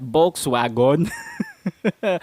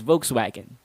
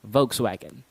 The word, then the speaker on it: Volkswagen: But the mistake that most Filipinos make is pronouncing the last part as wagon.